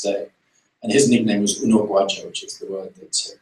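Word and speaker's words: Unogwaja: who stands this day and his nickname was Uno gu which is the word that Bridget said beautifully out and it's a word that is widely mispronounced but unaj is the Zulu word for for a hair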